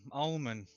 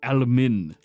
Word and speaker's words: Almin: I thought you were related because you have a nut name, Almond. It's Almin. Oh, my bad.